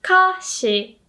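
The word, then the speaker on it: 菓子: check it out anyway kashi actually stays the same high low but at the beginning you have to add this lo okay so we make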